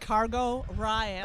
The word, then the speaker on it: Cargo Riot: Thank you for that pronunciation. I was just there checking that out going, Cargo Riot. Thank Friday, I had to ask them how it's said, and they're like, Cargo Riot.